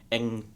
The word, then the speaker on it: Anh: Ang pronounced like the last Airbender.